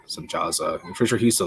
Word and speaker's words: Semjaza: Pretty sure Semihaza is Semjaza, so their pronunciation for that. Semjaza.